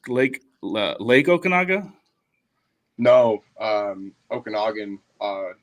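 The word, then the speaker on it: Okanogan: said it right lake lake okaga no um Okanagan uh it's spelled differently it's o a n o g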